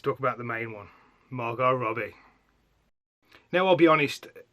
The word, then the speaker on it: Margot: It's Margot. The T is silent, like Django in his D. So yeah, Margot Robbie.